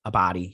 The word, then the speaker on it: Abdy: be replaced by michael deluca and pamela uh a body a body yeah that's how you say her name uh